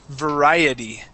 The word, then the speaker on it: variety: time the word is variety variety variety okay yeah yeah the word is variety variety variety variety variety good yep that's it nice so that t we actually pronounce like a d okay variety all right